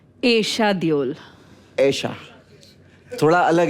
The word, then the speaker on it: Esha: हां बारिश में ईशा देओल आपके नाम का प्रोनाउंसिएशन एशा देओल एशा थोड़ा अलग है वो अलग नहीं